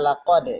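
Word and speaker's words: لَقَدْ: Perhatikan kata laqad di situ huruf qalqalah. Mana huruf qalqalah itu adalah huruf yang setengah hidup atau dia harus dipantulkan. Yang kedua huruf qaf ya.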